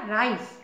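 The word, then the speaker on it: rice: इसलिए इसका सिटी कहेंगे आर आई सीई सी के बाद ई है इसका उच्चारण स हो जाएगा राइस आर आई सी ई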